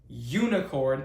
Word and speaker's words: unicorn: So the U in this case useful and unicorn useful unicorn makes a Y a Y sound.